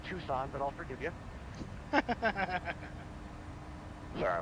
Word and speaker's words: Tucson: Well, it's pronounced Tucson, but I'll forgive you.